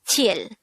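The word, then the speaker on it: 칠: sign the korean version of number seven is chill again it's tier this is just composed of three hangul characters and just one syllable pronounce it with me chill chill how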